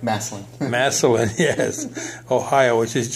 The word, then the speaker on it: Massillon: Did I pronounce that right? Massillon.